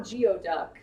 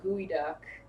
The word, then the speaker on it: geoduck: I say you're right I think gooey duck it like it's not geoduck it's like it's something weird like gooey duck I don't know I've